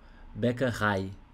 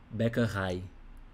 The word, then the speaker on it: Bäckerei: E aqui, esse tracinho aqui, ó, sublinhado, é porque a sílaba tônica, a ênfase, você vai dar no final. Bäckerei. Bäckerei.